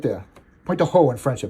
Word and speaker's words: Pointe du Hoc: Pointe du Hoc in French, I pronounce it, actually.